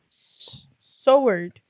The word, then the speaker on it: sword: Sword. What? Sword. Wait, how do you say it? Sword. But there's a W. Sword. You do like a sword.